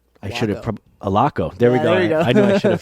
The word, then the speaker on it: Allocco: and on today's show we've got Mr aloko I should alako there we go I know I should I